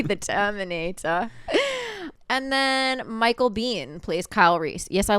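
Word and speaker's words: Biehn: And then Michael Bean plays Kyle Reese. Yes, I looked it up. His last name is pronounced Bean.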